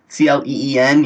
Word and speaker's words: Klein: They're put out normally by a company called Klein, Cleen, even though it doesn't really sound like Klein, but that's how they spell it.